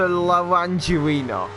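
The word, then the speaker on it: Laranjinha: It's a really awkward onboard, but through turns 4 and 5, Brumadinho does go up into the Curvo de Laranjerina. It's like Orangina, but Laranjerina.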